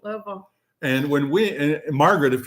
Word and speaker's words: Louisville: And that's how you say it, Louisville. Louisville.